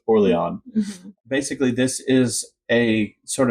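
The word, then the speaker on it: Orléans: Number 34 on the list is Orlion or if you're from Oklahoma, Orleans. Yeah. No, but it's I think it's pronounced Orlion.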